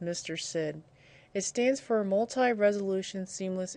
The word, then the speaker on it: MrSID: is in msid and this is typically pronounced Mr Sid it stands for multi-resolution